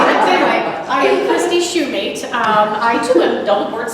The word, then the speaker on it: Shumate: Shumate, if you'll think every shoe has a mate. I get Shumate, I get Shumate, I get all kinds of crazy things. Anyway, I am Christie Shumate.